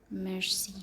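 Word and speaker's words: merci: इसकी pronunciation मर्सी है, ठीक है। आई आया है एंड पे, तो हमने इसे प्रोनाउंस किया। लेकिन पिछली वीडियो में हमने देखा था कि जो CRFL वाले कॉन्सोनेंट्स हैं वो प्रोनाउंस होंगे। लेकिन ये जो रूल्स हैं, हर रूल में एक्सेप्शन होती है।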